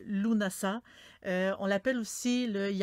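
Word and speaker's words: Lughnasadh: des récoltes de l'été on dit que ça se prononce lounas a vraiment une prononciation tu viens de l'anglais je sais que ça s'écrit et beaucoup de l'étang ça s'écrit vraiment lughnasa d' mais on dit on di luna ça on l'appelle aussi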